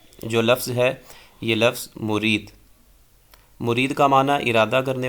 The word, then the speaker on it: مُرِید: عنوان مرید، باغی مرید، تو صحیح تلفظ جو ہے یہ مرید ہے، میم پہ پیش اور را کے نیچے زیر ہوگی۔ اور اس کا غلط